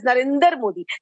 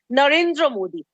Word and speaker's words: Narendra Modi: allow this on your show he precisely he pronounces our honorable PM's name as Narendra Modi please tell him the name is Narendra Modi in case he doesn't understand right anyways I